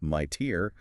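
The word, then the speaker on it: MITRE: The IDA Corporation, pronounced my tier, maintains the CVE list, funded by DHS and CISA.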